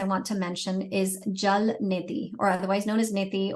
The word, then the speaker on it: neti: to mention is Jal Neti, or otherwise known as Neti, or if you're not, if you're just pronouncing it the way most people do here, it's neti, like get yourself your neti pot.